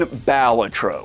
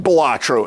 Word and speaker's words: Balatro: Flippin' Balatro, or Balatro if you want to say it wrong.